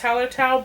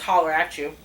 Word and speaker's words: Hallertau: And I know that it's pronounced Hallertau, but every time I walk by it, I read it as Holler at You.